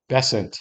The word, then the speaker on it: Bessent: Secretary of Commerce, and it's a guy named Besant, I believe. That's how you pronounce it.